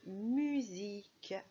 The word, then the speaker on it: musique: Alors ça, il s'agit de musique. Musique. On entend Z comme dans valise.